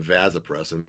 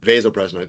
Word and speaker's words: vasopressin: Some people pronounce it vasopressin, but vasopressin is the correct pronun- pronunciation.